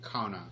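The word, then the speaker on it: qanna: this word for you and the word is Cana it's actually spelled the the transliteration is spelled Q a and then a I suppose we would pronounce it Cana but it's it's actually Cana and and this is what it means it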